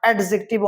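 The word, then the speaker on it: adjective: है यहां पे देखिएगा डी साइलेंट होता है ना एडजेक्टिव नॉट एडजेक्टिव और एडजेक्टिव एडजेक्टिव ठीक है एडजेक्टिव या फिर एडजेक्टिव जो भी आप कहते हो बट डी साइलेंट है ये हमेशा याद रखिएगा ठीक है तो अब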